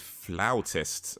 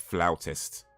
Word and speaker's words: flautist: is a classically trained flower test I think that's how it's pronounced I might not be saying it correctly but I believe it's pronounced flautist not fluid not flute player it's like flowers let me see I